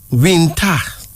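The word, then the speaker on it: Winta: fruit right okay a second female name is vintage it's spelled as w-i-n-t-a but it's pronounced as vinta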